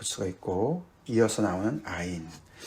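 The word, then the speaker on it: עין: 그게 이제 싸맥에 대한 이제 얘기들이라고 볼 수가 있고이어서 나오는 아인 예 싸맥은 s 발음이 나오는 거고요. 아인은 무음이에요. 사실은 예 맨 처음에 시작한 알레프라는 거 같이 이제 거의 거의 이제 발음이 묵음인데 뭐 에덴 동산일 때 에덴 그 앞에 에자가 이제이 아인으로 시작하는 거거든요.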